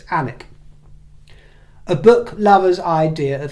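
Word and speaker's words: Alnwick: barter books in anic anic is spelled a l n w i c k in case you go Googling it but the the L and the W are silent so it's anic a Book Lovers idea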